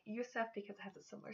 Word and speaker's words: Yusuf: Yusuf is the Arabic form of Joseph, which again means God will increase. This name can also be spelled with an O and pronounced Yosef instead of Yusuf.